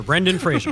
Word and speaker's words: Brendan Fraser: Rhymes with Razor, Brendan Fraser.